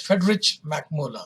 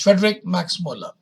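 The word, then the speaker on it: Friedrich Max Müller: Some pronounce it as Friedrich Max Muller. It's not Friedrich, it is Friedrich Max Muller, who was a credit of translating Sanskrit text of Hitopadesh in German language.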